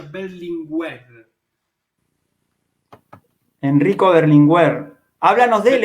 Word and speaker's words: Berlinguer: castellana aragonés también pero en italia se pronuncia berlin web enrico berlinguer háblanos de